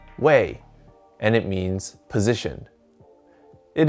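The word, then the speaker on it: 位: his position rank or title this character is pronounced wei and it means position it is used in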